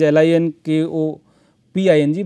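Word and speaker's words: Linköping: place, Linkoping it is called, although spelling is L I N K O P I N G, but pronunciation is Linkoping.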